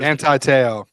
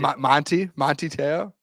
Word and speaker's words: Manti Te'o: Did you just call him Monty Te'o? Monty Te'o. We were just because I pronounced the man's name wrong. All right, one of the greatest linebackers.